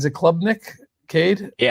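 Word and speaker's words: Klubnik: Uh how do you pronounce is it clubnick cade? Yeah clubnick.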